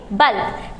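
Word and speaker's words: bulk: बल्क। यानी कि यहाँ पर जो U के बाद L K है तो वहाँ पर L साइलेंट नहीं हो रहा है, L को वहाँ पर हम पढ़ रहे हैं।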